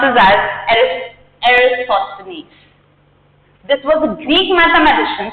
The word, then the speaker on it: Eratosthenes: So, this is, I pronounce this as Eratosthenes.